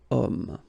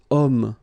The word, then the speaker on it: homme: Because homme, well, it's masculine, yes. The reason is that it starts with the sound O, because if you remember carefully, H is not pronounced, so H doesn't exist phonetically.